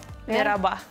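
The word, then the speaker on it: merhaba: Не надо тоже х. Да, почему не надо х? Кстати, в арабском языке тоже присутствует это слово, там читается эта буква х. И, кстати, когда в Турции я была, некоторые тоже через букву х читали. То есть мерхаба. Ну, мераба все-таки говорят.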